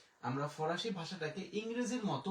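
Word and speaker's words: faux: এরপরে ইক্স এর উচ্চারণ আমাদের নাই, তাহলে এফ এর জন্য আমরা নিলাম ফ, এবং আ ইউ এর জন্য আমরা নিলাম ওকার, ফো।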